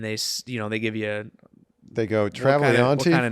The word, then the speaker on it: Travagliante: Joseph is, I don't think I've ever told anybody Pronounce this. your real last name. Travagliante is the actual last name. Vic Travagliante.